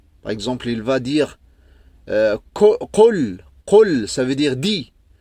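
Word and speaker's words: قول: Et les francophones, souvent, au début, ils vont la prononcer et lire Qul, Qul. Parce que K, il se trouve en français, donc ils trouvent facilement à prononcer K. Mais normalement, celle-là, c'est Qa. Q. Qa. C'est comme si tu appuies fort à l'intérieur.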